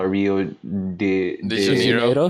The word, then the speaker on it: Rio de Janeiro: So like we set off to like build Rio De Janeiro. how do Rio you de pronounce Janeiro.